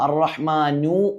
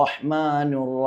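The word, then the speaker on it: الرحمن: പിന്നെ ഇവിടെ പല ആളുകളും അർ-റഹ്മാനു എന്ന് ഓതുന്നത് കേൾക്കാം. ബിസ്മില്ലാഹിർ റഹ്മാനിർ റഹീം, അങ്ങനെ ശ്രദ്ധിക്കണം. അവിടെ മക്കളൊക്കെ മദ്രസകളിലൊക്കെ പഠിക്കുമ്പോൾ അങ്ങനെ ഒരുപക്ഷെ ഓതിയേക്കാം. അപ്പോൾ നമ്മളാണ് തിരുത്തി കൊടുക്കേണ്ടത്. ബിസ്മില്ലാഹിർ റഹ്മാനിർ റഹീം.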